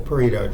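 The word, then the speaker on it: Pareto: marker there we go that's the Paro chart and that's how you pronounce it so how about this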